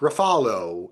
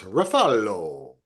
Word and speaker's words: Ruffalo: Number 1, Mark Ruffalo in Task.